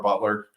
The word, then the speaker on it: Beutler: us that's our our website I you can find me on LinkedIn uh my last name is spelled funny uh so we say Butler but it's got a random e in there so b t l